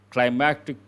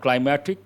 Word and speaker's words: climactic: Climactic point. Climactic point. Not climatic, climactic point.